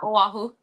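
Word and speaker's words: Oahu: the Windwood side ofu is that how I pronounce it yes yeah aahu you did you did good awesome A+ it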